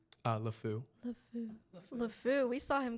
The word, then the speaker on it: LeFou: nasal, like, yeah, like, I don't want to do it, but like, it's Wait, how do you pronounce his name? LeFou.